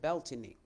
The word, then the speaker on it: Beltane: So, Belain, some people pronounce it bely.